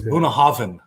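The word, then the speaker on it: Bunnahabhain: I'm going to go buy that Banahabahain, or however you say it. How you say it again? It's spelled Bonahaven, but it's pronounced with a V, like the way Cuba does. It was Bonahaven.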